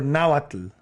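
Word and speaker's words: Nahuatl: of dialect is that now what now what or nawatu oh with the l at the end oh my goodness we're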